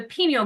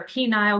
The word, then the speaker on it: pineal: The pineal gland or pineal gland, depending on how you say it. I call it a pineal.